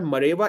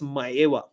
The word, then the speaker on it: Maeva: By the way, yeah, that it's not Mareva, it's Maeva. I read about it and I found the pronunciation. So just a tip if you want to sound very technical.